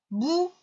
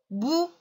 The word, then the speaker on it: boue: La boue. Attention, ici, il y a un E muet. La boue.